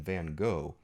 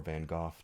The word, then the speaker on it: Van Gogh: He was even younger than Van Gogh, who, or Van Gogh, depending how you want to pronounce his name.